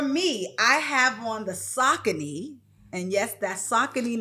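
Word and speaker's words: Saucony: For me, I have on the Sakccin. And yes, that's Sakccin, not Sakonei.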